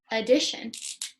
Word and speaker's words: addition: That's TI. TI is saying shh. TI. Ah. Add it. That's it I. Shh. That's TI. Ah. Addition. Ready? Let's write it. 3 syllables. Add. It. Shion. Addition.